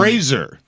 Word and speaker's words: Fraser: Fraser. Yeah, it's Fraser. Spell it with a Z if you want me to call you Fraser.